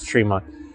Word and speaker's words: Tremont: And I did butcher the name, by the way. It is Tremont.